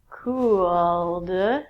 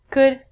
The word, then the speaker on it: could: All of these L's are silent. So it sounds like should, could, and the thing that we get from trees, would.